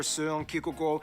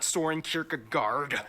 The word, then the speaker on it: Søren Kierkegaard: Hans Christian Andersen, philosopher Søren Kierkegaard, or whether... Pronounce his name? That's actually how you pronounce his name. Wow. It's not Søren Kierkegaard.